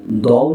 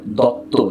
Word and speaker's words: দত্ত: পরে আমার সেই সময়ের হেড স্যার, তিনি আমাকে বললেন এটি দও নয়, দত্ত, এখানে আছে দুটো ত, দুটো ত হলে ও হয় না।